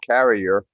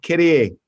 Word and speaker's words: Carrier: You pronounce it more in the English, the American way of Carrier, but you did say it the correct French way.